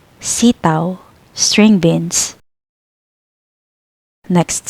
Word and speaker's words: sitaw: Aw, like now. Example, sitaw, sitaw, string beans.